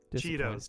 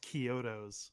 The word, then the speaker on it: Chiodos: song no oh well cheetos yeah cheetos cheetos cheetos cheetos cheetos i remember some people being like i think it's pronounced kyoto's and i was like i don't know